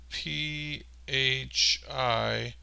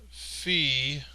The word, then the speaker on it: phi: and it is spelled p h i and it is either pronounced fee or it's pronounced phi you know it sounds like in the english language fi or phi depending on other letters